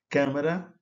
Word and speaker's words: câmara: Câmara, né? O A fechado, a câmara, não é câmara, é câmara.